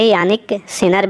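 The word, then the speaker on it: Jannik Sinner: Italy के जन्निक सिनर ने। इसे यानिक सिनर भी इन्हें कहा जाता है, कभी कभी इनके नाम के साथ जो है ये प्रोनाउंसिएशन इस्तेमाल किया जाता है।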